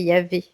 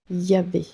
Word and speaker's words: Yahweh: Oui, Ensuite, que signifie Yahweh? Je ne sais pas si je prononce bien. Si tu veux, je te l'épelle. oui, Y-A-H-W-E-H. oui. C'est Yahvé. Yahvé.